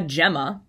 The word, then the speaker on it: gemma: right there that's uh a gemma or i've heard gamma you've heard it pronounced both ways jemmy um is plural